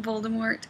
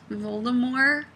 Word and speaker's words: Voldemort: the guy called um Voldemort Voldemort with no T and he doesn't pronounce the T and every time I